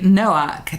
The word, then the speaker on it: Noack: And today I've got a fabulous male guest, which is quite rare for me these days, called Noak. Did I pronounce that correctly?